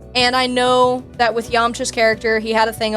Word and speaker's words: Yamcha: So, another Dragon Ball character, we have Yamcha, or Yamucha, how it's said in some of the subs.